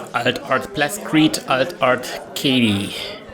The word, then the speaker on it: Kati: Alt Art Plascrete, Alt Art Katie. Kati, yes, thank you. That's her real name. I actually know a person who's called Kati, because that's a common way to pronounce his name in Germany.